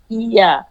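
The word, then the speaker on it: ياء: জিহ্বার মধ্যখান তার বরাবর উপরের তালুর সঙ্গে লাগিয়ে উচ্চারিত হয় ইয়া।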